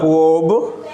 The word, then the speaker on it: verb: The correct pronunciation is verb. After R, word B come. So when the consonant come after R, then we don't pronounce the R. So we should pronounce it verb.